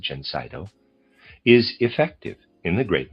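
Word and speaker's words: Gencydo: This remedy which we manufacture under the name Jenseno and I'll spell that it's Ge N C Y D O. I'm going to pronounce it Jenseno is effective in the great majority of hay fever cases.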